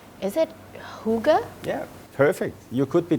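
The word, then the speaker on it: hygge: that you have I'm not sure that I pronounce this correctly is it Huga yeah perfect you could be Danish really Huga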